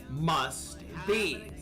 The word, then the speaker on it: must: Must be. The T sound in must is often dropped. So must be becomes must be.